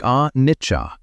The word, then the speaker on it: anicca: Say it like anicca, impermanence.